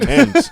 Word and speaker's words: Thames: But You already how is brought that up the pronounced? Thames.